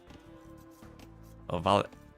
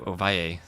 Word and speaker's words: Ovalle: Ovalle, if I pronounce it Colombian style. Oh, and Dragonborn, hello. Vache, if you pronounce it Argentinian, Uruguayan style. How does Mario himself say it? That's the question. Mario Ovalle. That sounds good because it's two L's, right? I should make that Y sound.